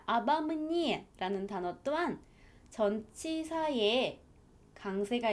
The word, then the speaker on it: обо мне: 있기 때문에 앞에 전치사, 얘는 알파벳 O가 두 개나 있음에도 불구하고 전부 다 아로 발음을 하셔야 합니다. Он говорит обо мне.